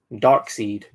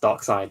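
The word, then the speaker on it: Darkseid: wrecked everyone here and we have dark seed or as he should be pronounced dark side but you know some people call him dark seed something i don't think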